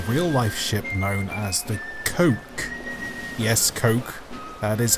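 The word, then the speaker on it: koch: similar to the real-life ship known as the Coke yes coke that is how it's actually pronounced any ideas you dirty little ferret the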